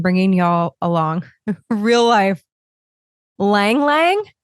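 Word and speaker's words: ylang-ylang: Ylang Ylang? Is that how you pronounce it? It's Ylang. Yang Yang? Ylang Ylang? I'm going to assume the Y is silent. Real life, people, real life. I did not take the time to look this up. Let's say Yang Yang. That sounds right.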